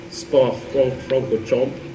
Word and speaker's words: Spa-Francorchamps: So this is in Spa-Francorchamps, as apparently it's pronounced, in Belgium.